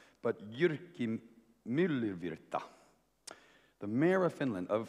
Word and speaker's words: Jyrki Myllyvirta: But Jyrki Myllyvirta, the mayor of Finland, of Lahti, Finland. He said I was pronouncing his name reasonably accurately, and he's been the mayor of Lahti for the last few years.